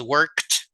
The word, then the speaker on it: worked: algunos por ejemplo work El pasado es worked con t sonido de T verad no es work